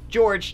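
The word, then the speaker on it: Jorge: oh that's not good George now by the way his name is spelled the Spanish way but it's pronounced the English way so do not give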